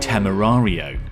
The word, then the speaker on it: Temerario: Lamborghini tamario yep it's another Lamborghini that can probably be pronounced three different ways but the translation is